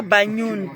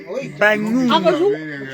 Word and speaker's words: Bagnoum: Bagnoun. Il faut que je prononce le N là. Je dois prononcer le N apparemment.